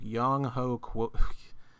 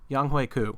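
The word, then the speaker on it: Younghoe Koo: tight end we got tj hawkinson kicker whoa yong ho let me try that again wait how do you pronounce it i'm like what's that like what's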